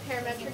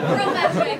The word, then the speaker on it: Prometric: A parametric center, what is? Prometric, so I know you guys are today.